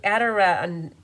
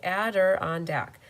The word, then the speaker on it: Adirondack: I can say ambulance Adirondack Adirondack it's like four syllables Adder on Deck okay and arella borrelia